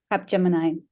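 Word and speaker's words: Capgemini: at cap gemin Consulting is that how you pronounce it Cap Gemini Cap Gemini thank you for correcting me and she was also a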